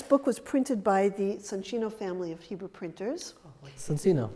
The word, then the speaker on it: Soncino: in the town of Soncino, and the other half was printed in the town of Casale Maggiore. I noticed that you're pronouncing it Soncino. I know, that's the correct Italian name.